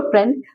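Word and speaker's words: friend: क्योंकि आप जब फ्रेंड बोल रहे हो ना तो आई का साउंड कहीं पे भी नहीं आ रहा। आई जैसी आवाज आ ही नहीं रही है।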